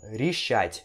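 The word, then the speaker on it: решать: verbo Richard Ok Richard aqui temos a letra de né só que isso aqui você pronuncia como se fosse ir então você pronuncia assim ó Richard Ok com som de ir mas vai escrever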